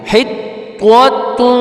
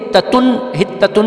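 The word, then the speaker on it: حطة: اب حتتن بھی نہیں ہے، طوا ہے، طوا حطوۃ. اب دونوں دیکھیں، دونوں تا جو ہے بہت سارے لوگ یہاں پر یہ غلطی کرتے ہیں کہ طوا کو بھی تا پڑھتے ہیں، حتتن نہیں ہے.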